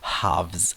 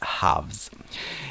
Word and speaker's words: halves: three halves of football now pay attention to the pronunciation of the word half in the plural which is haves haves anyways I really like